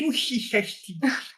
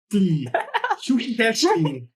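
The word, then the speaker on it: Chuchichäschtli: So yes, I got a name which was quite difficult for me to pronounce. No. Kushishachli. It's Swiss German, right? Schuhichechli. Schuhichechli.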